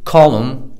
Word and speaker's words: column: Column D in ولا میراست بریتی هلب جرده C